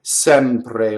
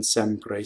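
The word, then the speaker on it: sempre: And when it's A, it's written with that Greek rounded looking E. Sɛmpre, like in Sɛmpre. See, so A, right? It rhymes with head.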